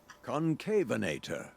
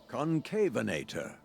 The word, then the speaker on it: Concavenator: actually look it's going to it's going to pronounce it for us this is helpful concavenator oh there we go I said it right thank God for that concavenator concavenator is that supposed to be John Hammond's